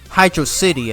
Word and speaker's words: Hydrocity: So like Sonic tells Tails that it's Hydro City, and then Tails tells him that it's Hydrocity.